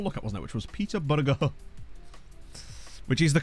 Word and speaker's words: Peterborough: Which was Peter Burger. Which is the correct pronunciation, and I will not have anyone tell me otherwise.